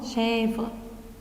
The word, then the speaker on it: chèvre: Et vous voyez, je prononce chèvre.